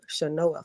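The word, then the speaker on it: Chenoa: there is another program by the name of shanoa fund it's spelled c-h-e-n-o-a they offer up to 3.5 percent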